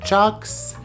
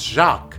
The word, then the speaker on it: Jacques: Houseplant Heather, Hoya Heather, Chucks. That's not how you say it, Miro, it's Jacques.